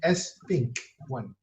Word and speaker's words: SPINK1: Kejap Sorry, the ejaan of Sphinx to SPAINK1, not Sphinx. SPINK Spink1.